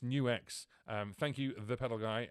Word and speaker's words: Nux: The Optima Air is an acoustic amp IR loader, and it's pronounced New X.